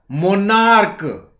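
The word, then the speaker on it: monarch: लेकिन जब CH का उच्चारण क हो, क, मोनार्क, बेंच, अंतर को थोड़ा सा समझिएगा।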